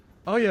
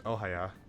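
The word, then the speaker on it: Ohya: Oya is pretty pretty. I don't know why I keep pronouncing her as Ohaya.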